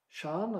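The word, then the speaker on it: Siân: an astronaut, Shan, as I pronounce her name. She pronounces it Sian, I think.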